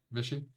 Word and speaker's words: Vichy: Vicky? Vichy. Vichy? It's pronounced Like Vichy?